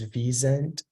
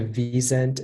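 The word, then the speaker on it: wisent: uh can I please have all the please pronunciation is visent it's a noun and it's from German it's it means a European bison also called Al rocks and the sense is the vzent is a European species of bison the reason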